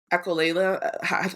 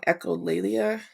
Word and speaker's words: echolalia: anything um the um echola I'm saying it wrong echolalia what's um read it